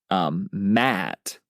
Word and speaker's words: Ma'at: There was one actual important cultural thing that led to this, and it's called MAT, which is it's spelled MA''AT. MA''AT. So MAT. Yeah. Yeah, MAT.